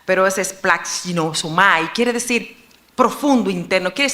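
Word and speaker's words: σπλαγχνίζομαι: Esa palabra cuando se usaba compasión, que en griego es un poquito difícil de pronunciar, pero es splaxinosomai, quiere decir profundo, interno.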